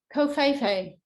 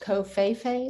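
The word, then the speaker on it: covfefe: And so COFeFe, that's how it's pronounced, COFeFe, like this, like the V doesn't exist.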